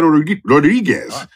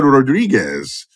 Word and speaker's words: Rodrigues: Larissa Rodrigues. Let me pronounce that right again.